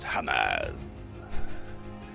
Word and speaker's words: Hamas: Well, Ollie, first of all, it's pronounced Hamas.